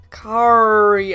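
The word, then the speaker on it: carre: the word that is spelled C-A-R-R-E, so Kari. I can't roll my R's, but there you go.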